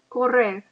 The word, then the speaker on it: correr: See if you can roll your R. Correr.